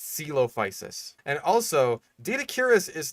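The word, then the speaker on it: Coelophysis: Like celophis is one that I see a lot of people struggle with because it's like c o e. It's like caloposis. No, that's not quite right. It's it's celopicis.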